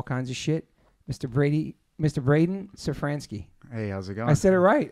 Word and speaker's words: Szafranski: Braydon Szafranski.